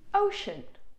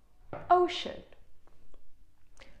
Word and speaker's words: ocean: It's simply ocean. Shh. It's a sh sound. It's ocean.